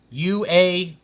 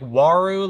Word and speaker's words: Uaru: I've got a Uaru, U-A-R-U. Some people say it like Waru, like it starts with a W, but I think it's Uaru.